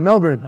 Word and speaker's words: Melbourne: to Melbourne yeah and you said it right Melbourne I love it I lived there for a